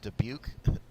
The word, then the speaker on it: Dubuque: Tyler Rutten back from a 6-2-186 from uh Dubuque that's how to pronounce that college Tyler ruttenbeck running back thank